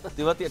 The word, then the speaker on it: तेवतिया: उसको भी सीखना पड़ा राहुल तेवतिया तेवतिया ठीक बोल रहा हूं बिल्कुल बिल्कुल ऐसे चुबे रुस्तम आईपीएल